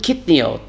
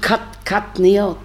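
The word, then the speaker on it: קטניות: So he told him yes, but don't pronounce it kitniot. That's the way Ashkenazim pronounce it. Pronounce it katniot with a komets.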